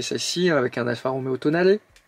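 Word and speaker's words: Tonale: avec un alpha romeéo Tonalé il faut prononcer à l'italienne d'ailleurs vous pouvez découvrir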